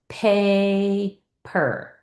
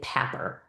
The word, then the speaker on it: paper: And when I split this, I'm going to try splitting it to make it an open syllable so that that vowel screams his name. Paper, paper. And yes, paper is a word I know because if I split